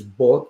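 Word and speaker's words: 八: Again, when it comes to the pronunciation in Cantonese is bot, which close to fort, and that means rich.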